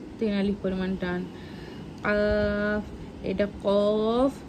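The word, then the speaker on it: ق: আলিফ পরিমাণ টান এটা কফ এটা কাফ এটা হচ্ছে একটু মানে ভিতর থেকে ডিপ আওয়াজ বের করতে পারে এটা হালকা করে বলতে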